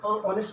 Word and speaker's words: honest: लिखते हैं स्पेलिंग में एच लिखते हैं, HONEST, लेकिन वहाँ आगे एच है तो ऑनेस्ट में नहीं बोलेंगे एन, क्योंकि वहाँ साउंड वॉवल का साउंड है।